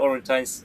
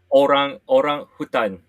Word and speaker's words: orangutan: pronounce the word because I call it orangutan, right? But you yeah, say that's it. wrong. How do you say it? Orang hutan, orang hutan.